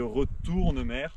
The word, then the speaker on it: Retournemer: Après, il y a le lac de Retournemer. Pareil, là, ça s'est transformé. Alors, l'écriture a changé en MER et la prononciation est exactement pareil, en mer.